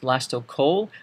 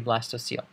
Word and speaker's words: blastocoel: VLA sto co e l this is not pronounced blasto coal this is actually pronounced blast OCLC OE L